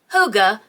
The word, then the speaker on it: hygge: If you're not familiar with the word or my poor southern attempt at pronouncing it correctly, Hygge, spelled Hygge, is a Danish concept of feeling